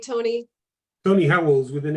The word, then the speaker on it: Howells: I am very excited today because my guest, his name is Tony Howell. Did I pronounce that right, Tony? Tony Howells with an S.